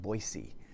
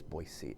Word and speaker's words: Boise: boise state football well no it's not boise it's boise i don't know why